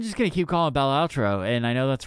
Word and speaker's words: Balatro: Balatro. It's Balatro. Balato?